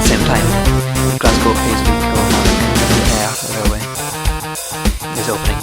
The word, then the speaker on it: Kilmarnock: There's actually a joint line between the Glasgow, Paisley and Greenock Railway and the Glasgow, Paisley, Kilmarnock and Ayr Railway. I pronounced it wrong, it's Kilmarnock.